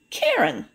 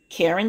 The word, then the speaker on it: Karen: Karen rhymes with Sharon. Karen Sharon.